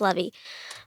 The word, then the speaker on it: Levy: Levy is I I want to say Levi, but that's not what it is. It's Levy.